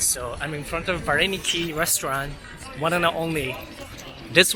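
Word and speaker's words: вареники: So interesting about Russian character is that it says a B-A-P-E, right? But P is pronounced as, used as a R in Russian Ukrainian, so it's Vareniki something.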